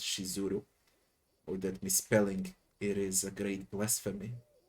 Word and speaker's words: Shizuru: And why did no one of them warn me that the name of the goddess is actually spelled and pronounced Shizuru?